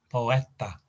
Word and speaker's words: poeta: mind over matter with the stress in the middle syllable again stress on the e in the middle poeta piana now piena is